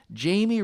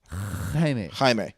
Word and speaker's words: Jaime: And then Jamie Reyes came along. Jaime? Yeah, Jaime. This is like me pronouncing corpse for the Green Lantern Corps.